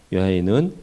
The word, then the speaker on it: 야훼: 야훼는 히브리식으로 그냥 그대로 발음을 한 거고 여호와 이렇게 영어식으로 할 수 있어요.